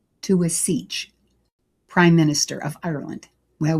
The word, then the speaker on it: Taoiseach: Taoiseach, no, I'm going to say it again. Taoiseach, Prime Minister of Ireland.